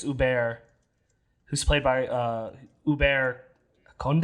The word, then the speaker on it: Hubert: It's spelled like Hubert, but I think it's Hubert, who's played by Hubert Conde, I think is his name.